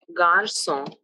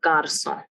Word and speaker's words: garçon: For example, the word garçon, which means a boy in French, has a cédille underneath C, which softens its pronunciation, a garçon.